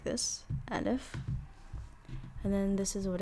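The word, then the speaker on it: ألف: I'm gonna have you try, keyword try, to pronounce these letters on your own. Okay. So the first one is called Alif, like this, Alif.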